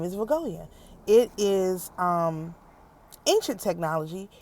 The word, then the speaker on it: Vegoia: Okay, her name is Viggoya. Say her name. Her name is Viggoia.